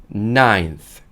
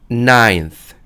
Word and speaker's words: ninth: ninth. ninth. 물론 우리가 nine이라고 할 때는 nine이라고 하는데 여기서 알파벳 e가 빠지긴 했지만 발음은 역시나 ninth가 되고요.